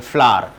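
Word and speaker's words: flour: चलिए नेक्स्ट देखिए, फ्लोर, इसे वैसे फ्लावर कहते हैं, फ्लावर, इसका भी प्रोनाउंसिएशन फ्लावर होता है और इसका भी प्रोनाउंसिएशन फ्लावर होता है, फ्लावर नहीं बोलते इसको, फ्लावर, फ्लावर।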